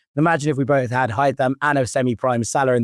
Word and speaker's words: Haitham Hassan: Pronounced Haitham.